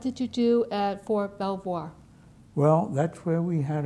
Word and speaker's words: Belvoir: And how do you spell that? B E L V O I R. Belvoir.